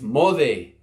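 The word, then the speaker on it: moce: for the day it's mauvais m OC e we're going to get that letter C back up here it's a TA sound moc e is mauvais literally it's a verb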